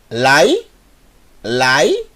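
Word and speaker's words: לילה: acelerar Laila Laila Ok Laila L mais al mais yud aqui eu tenho uma sílaba e essa sílaba eu vou ter que ler mais rápido por causa do cheva e o final eu tenho lâ mais a formando a palavra Laila Laila que é o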